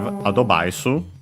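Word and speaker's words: アドバイス: And then we have adobaisu, advice. Of course, we check its accent. While searching it, I can mention that yeah, we have of course the additional O for the D. English V that becomes a B.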